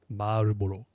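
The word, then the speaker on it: Marlboro: Marboro, which doesn't really sound like Marble at all, but whatever.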